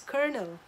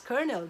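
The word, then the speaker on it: colonel: it is pronounced as kernel then he looked at me and said but there is no R and I said yes but it is pronounced as kernel that is the proper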